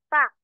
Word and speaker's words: FAQ: Okay, because it can be pronounced as a word. Okay, if it's a word, okay, you can read this one as fact, fact.